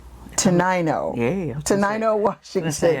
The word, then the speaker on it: Tenino: Tenino. Yeah. Tenino, Washington. I'll give you a hint. It comes after 8. Oh, Tenino. Oh, yeah, look at that. Yeah. So Tenino, Washington.